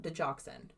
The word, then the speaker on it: digoxin: Digoxin.